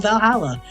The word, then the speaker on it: VA-11 HALL-A: The name sounds silly and is a bit hard to pronounce. Good thing it's actually called Valhalla.